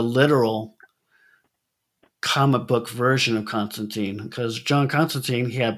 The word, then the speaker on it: Constantine: Well, the reason I wanted to ask you that question is because the 20th anniversary of Constantine, John Constantine, uh, Constantine rhymes with fine.